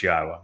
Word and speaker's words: Yahweh: U so be aware God's name is pronouncable. It is Yahwa. There is no B sound in the original Hebrew language.